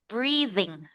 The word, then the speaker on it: breathing: I just want you to practice a little bit on the pronunciation because you read this as breathing, but this is a harder, like a voice TH. It's breathing, thing.